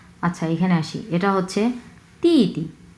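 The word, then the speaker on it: 弟弟: আচ্ছা এখানে আসি, এটা হচ্ছে তি তি তি তি, প্রথম অংশ 4 নাম্বার টোন, সো তি, পরের অংশ নিউট্রাল টোন, সো ধরেই ছেড়ে দেবো আমরা।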